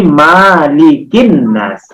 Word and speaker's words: Malikin nas: Yang betul bacanya bukan makilin nas, tetapi malikin nas.